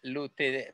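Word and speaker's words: lutetiae: Chelillena Lutetia, pero el AE se pronuncia solo la E, pues.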